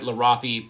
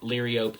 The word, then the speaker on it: Liriope: Monkey grass, some people call it Liriope. I've always heard it Lirapi, but Liriope is another way people pronounce it.